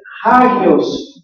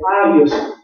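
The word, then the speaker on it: ἅγιος: se escribe hagios pero el espíritu rudo le manda la presencia de una J para la pronunciación correcta entonces debe de ser hagios no este abios ah muchos no prestan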